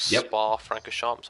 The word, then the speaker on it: Spa-Francorchamps: Of course, we're here at Belgium, racing at Spa-Francorchamps. I want to say that's how you pronounce it.